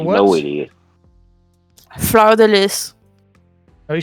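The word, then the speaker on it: fleur-de-lis: Fleur de lis. Oh, he said it with a B. I think he would know. I said a fleur de lis. Yeah, that one. You clearly don't pronounce the S.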